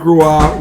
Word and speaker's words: Roy: Boston fans remember Patrick Ruah looks like Roy pronounced Ru tell all of a